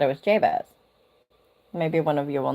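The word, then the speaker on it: Jabez: Okay, so let me turn up my volume so you guys can hear it and we'll see how it's pronounced. Jabas Jabas.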